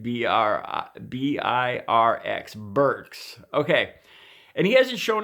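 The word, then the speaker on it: Birx: Burks I finally said it right BR be irx Burks okay and he hasn't shown up a lot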